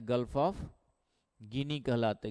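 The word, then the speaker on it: Guinea: ओसन का जो पार्ट है उसको कहते गिनी की खाड़ी अटलांटिक ओसन के गल्फ ऑफ गिनी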